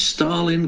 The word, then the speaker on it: Starlin: Right, it's spelled with an R, so it's Starlin. But his name's Stalin Castro.